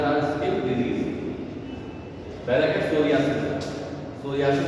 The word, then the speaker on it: Psoriasis: क्या नाम है, सोरियासिस, सोरियासिस पी से होगा, PS, देखो ये PSORIASIS, सोरियासिस, पी साइलेंट। ये क्या करेगा, यहाँ यूरिया